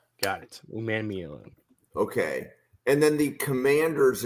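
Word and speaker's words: Umanmielen: let's run with princ Ley how did you pronounce it un man Meen man uman mean got it uman mean okay and then the commanders in round one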